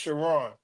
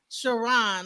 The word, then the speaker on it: Chron: names shiron you know the way it's spelled it's looks like it looks like K but it's it's pronounced shiron shiron okay wow so all